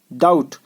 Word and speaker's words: doubt: Climb, depth, DOUBT, डाउट B silent है यहाँ, डाउट, ठीक है।